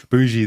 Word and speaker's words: Boujee: my wife and she looked at me with bgie there we go I knew I said it